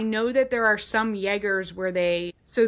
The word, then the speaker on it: Jaeger: that there are some Jaegers so the German J is pronounced as, like, a Y in the English language.